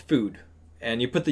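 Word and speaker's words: FÜD: So it is pronounced Food, but it's spelled FUD. But those two dots make it the ooh sound, so we've got Food as our little restaurant.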